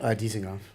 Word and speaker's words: Dizengoff: That's something you guys do at I hope I'm pronouncing it correctly. Dizengoff? Am I saying it right? Goldie. Yeah. Wait, what's the place you have in Chelsea Market? Dizengoff. Okay, so I didn't say it right, but you R.I.P.